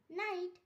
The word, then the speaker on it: knee: এক্ষেত্রে কে অনুচ্চারিত থাকে, যেমন নাইট, KNIGHT নাইট। এখানে এন এর আগে কি আছে তাই কে এর উচ্চারণ হয়নি। নি, KNEE নি, এখানেও এন এর আগে কি আছে তাই কে এর উচ্চারণ হয়নি।